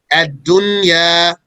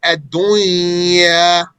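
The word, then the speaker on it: الدنيا: Therefore, one says sinwan, pronouncing the noon clearly, despite that it has a sukoon and it's followed by a wow. Since they appeared in the same word, then there is no merger here. And ad-dunya. So had there been a merger, we would have said sinwan, and we would have said ad-dunya. But we don't say that. That's wrong, actually. Clearly pronouncing the noon in both cases.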